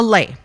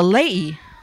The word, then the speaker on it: lei: It's called it's not called a lei. You have to say it very carefully because every sound is pronounced in Hawaiian. So it's a lei. Yeah, you got to get that up.